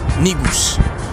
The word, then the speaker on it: Negus: We have basically world leaders of their community, community leaders, community activists, all involved in the Negus movement, because we're all one.